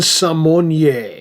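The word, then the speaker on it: Symoné: of us can remember, recently decided that we've been pronouncing her name all wrong for her entire career. Her name according to her has always been pronounced Raven Simmon just to go along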